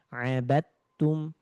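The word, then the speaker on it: عَبَدْتُمْ: Alkafirun itu ada abadtum tulisannya dibacanya abadtum dalnya langsung di hiraukan atau tidak dianggap langsung masuk ke huruf ta.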